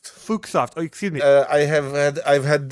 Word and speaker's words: Fuxoft: Do you prefer Sir Fucksoft or Mr. Fucksoft. Now, you've done the classic mistake. It's pronounced Fuchsoft. Fuchsoft.